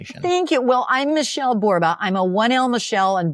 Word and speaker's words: Borba: Well, I'm Michelle Borba. I'm a 1L Michelle and Borba rhymes with Zorba.